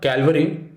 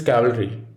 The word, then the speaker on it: cavalry: next letter is c it is not calvary it is cavalry what's the meaning soldiers